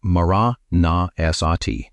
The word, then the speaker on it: maraṇasati: He called it maraṇasati. Say it like maraṇasati.